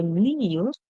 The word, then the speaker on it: kneel: Remember, kneel, the K silent, so you do not hear the K. So then the song that it actually begins with is the knee sound.